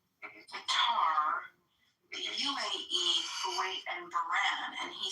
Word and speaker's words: Bahrain: Bahrain, by the way, is how you say it, but they're absolutely our allies.